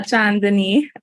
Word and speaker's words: Chandni: so hey everybody um I am John Denise um that's how you pronounce my name uh chandani um I'm uh based